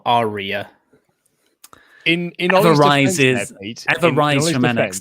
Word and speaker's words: Arya: Then pronounce the R more. Arya.